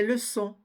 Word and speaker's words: leçons: T ni le S des leçons prononce pas le S des genoux on ne